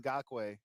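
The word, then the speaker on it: Ngakoue: It just got young Nakwe. Is that how you say his name is? Yeah, Yannick Ngakwe. Yeah, Ngakwe. Yeah, all these crazy names that you have.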